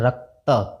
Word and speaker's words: रक्त: जैसे रक्त, तो र इसमें मिला हुआ है अ, अकेले इसका उच्चारण नहीं कर सकते इसलिए इसके साथ ही उच्चारण होता है रक्त, क आधा, त और अ।